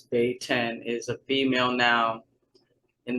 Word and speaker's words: Beten: the Beten-Jahlah, her name, how to pronounce it, says here is Beh-ten, is a female noun